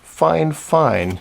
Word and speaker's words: Fifine: bit other than that they asked me to pronounce their name fine fine because that's not exactly the English spelling and they didn't give